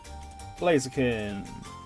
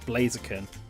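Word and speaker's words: Blaziken: It's definitely ken because of ken means fist, right? It's a fighting type and then blaze is obviously fire. So, blaze blazaken. Blazaken. That's probably how you say it.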